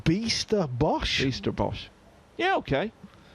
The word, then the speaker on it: Bijsterbosch: directly with Marc Bijsterbosch, Bijsterbosch, earlier in the week, and the way I was pronouncing it, that Niels told me, is definitely correct.